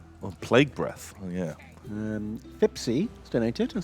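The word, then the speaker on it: Fipse: It is Fipsy, Fipsy! not Fipsy. Oh, shit. I can see the nuance. The difference is there is no I before the E. So it's Fip, S-E, not Fip, S-I-E.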